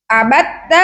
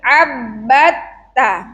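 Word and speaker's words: عَبَّدتَّ: Bacanya tadi banyak yang salah. Tasdid ada pada huruf ba dan juga ta. Bukan abatta tapi abbatta.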